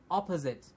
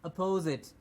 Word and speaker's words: opposite: same pronunciation here it's opposite opposite and not oppose it oppose it means like